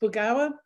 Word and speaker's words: Burgauer: So the awful last name that I have, thanks to my husband, is pronounced Burgauer. He's Swiss, and if I'd known